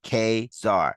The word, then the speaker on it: Ka-Zar: about to eat them kesar is pronounced Kar this is also stated in the opening page ages of the issue Kar next appears in